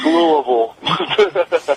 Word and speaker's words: Louisville: up there you know Louis it's louville they even sell t-shirts to the fact for that all the different pronunciations of Louisville oh yeah oh yeah